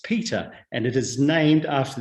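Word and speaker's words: Petre: settlers in the 1840s it is spelt p-e-t-r-e but is pronounced as peter and it is named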